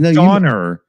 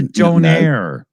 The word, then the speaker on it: donair: make it sound Don it's not a Doner it's a Donaire no that's what no